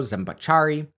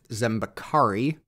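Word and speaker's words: Zambeccari: Italian Noble K Francisco zachari was in London where he displayed a balloon he'd been working on sorry that should be pronounced zambakari more on that in the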